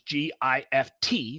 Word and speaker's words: GIF: Yeah, it's GIF. It's hard G. Yeah. Agreed. Period. If it were GIF, it would be spelled like the peanut butter.